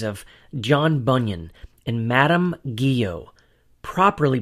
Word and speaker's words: Guyon: When I first read the autobiographies of John Bunyan and Madame Guyon, properly pronounced Guyon, I was encouraged by the fact that they too had suffered greatly for their faith in Christ.